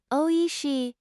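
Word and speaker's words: おいしい: Pronounce it oishi and use it when enjoying Japanese cuisine.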